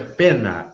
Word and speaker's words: poena: Em latim se escreve poena, que se pronuncia pena, e em português é pena.